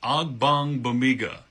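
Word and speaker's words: Ogbongbemiga: The last name is really pronounced just how it's written, except you got to know where to put the right emphasis. So it's Agbangbamiga. Yeah, it's a mouthful, a lot of letters in there, but as long as you get the right emphasis on the correct syllable, you'll be good to go.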